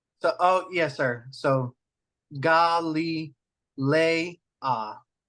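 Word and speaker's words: Γαλιλαία: How do you pronounce this diphthong? As in freight, eight. So, oh, yes, sir. So, Galilea.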